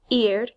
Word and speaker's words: ir: is not a typical IR verb so it's pronounced eared it is a word and it means to